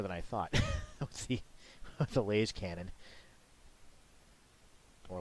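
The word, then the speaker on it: lascannon: That's actually more than I thought with the laser cannon. Or las cannon. Not really sure. For me, it's laser cannon, truncated to laser cannon. But I hear a lot of people pronounce it las cannon.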